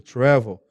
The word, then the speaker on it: travel: É como se tivesse um acento aqui, ó, certo? Agudo, travel.